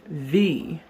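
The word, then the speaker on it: wie: That is because the W in German language is pronounced v as if a V sound in English.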